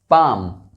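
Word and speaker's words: palm: इन सभी वर्ड्स में एल जो है वो साइलेंट है।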